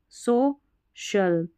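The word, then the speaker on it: social: तो सी आई एल इसको शल पढ़ना है क्योंकि जो सी आई है ना इसका श उच्चारण है श तो देखिए स्पै शल सो शल ओफी शल क्रू शल [नाक से की जाने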